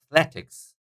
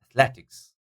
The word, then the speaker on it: athletics: be the first secondary Athletics Athletics second syllable Athletics and then we got